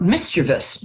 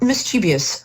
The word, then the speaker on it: mischievous: more confident and more a word that mispronounced a lot mischievous not mischievous no no mischievous um so it's um